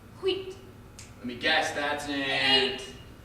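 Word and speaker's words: huit: it's also a card it's pronounced wheat let me guess that's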